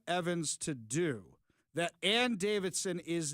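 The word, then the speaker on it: Davison: Let at this point, you won't have to learn how to pronounce her name correctly. It's Davidson, by the way.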